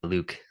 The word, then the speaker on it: Looq: I'm the VP of product here at It is pronounced Look, but I do try to encourage Luke as it is closer to Lucas.